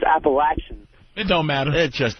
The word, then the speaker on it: Appalachian: Yeah, I want to talk to Patrice about him cracking on Appalachian State. And it's not Appalachian, it's Appalachian.